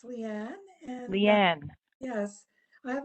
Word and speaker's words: Leanne: like to call upon, I think it's Liane or Leanne, and my apologies if I'm not pronouncing your name correctly. A request to unmute you has been sent, and I believe you are unmuted. Great. So yes, it's Leanne.